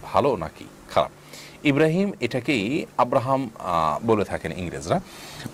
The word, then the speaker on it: ইব্রাহিম: ইব্রাহিম এটাকেই আব্রাহাম বলে থাকেন ইংরেজরা। অতএব আপনি সে অর্থে যদি ইব্রাহিম রাখেন এবং আপনার ইব্রাহিমই আপনার নিয়ত থাকে, এটার কোনো সমাজে আপনি আসেন